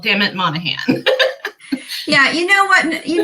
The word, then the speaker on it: Monaghan: that one hi everybody my name is spelth weird pronounced monahan i'm canadian but i